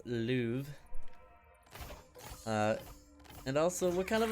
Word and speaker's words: Louvre: It's not the lube, alright? It's the Louvre. L-O-U-R-V-E, pronounced Louvre.